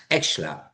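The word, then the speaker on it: Scheler: En el siglo XIX y XX, filósofos como Feuerbach, Nietzsche, Max Schler, a ver si lo digo, Max Exler, eso es, le estaba añadiendo una sílaba.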